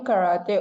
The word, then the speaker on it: karate: I do karate on Friday afternoon.